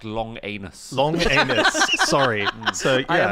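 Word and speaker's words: Langenus: called john langeness langness and he's pronounced long anus long anus sorry so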